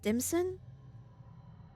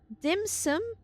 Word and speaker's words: dim sum: Is it dimson? I'm pronouncing it wrong for sure. It is. dim sum.